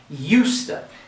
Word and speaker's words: used to: instead of saying used to we're gonna say usta now let's imagine here we have these two syllables and we're going to emphasize the first